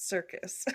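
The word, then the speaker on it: Serkis: Yeah, spelled with an S, but Circus.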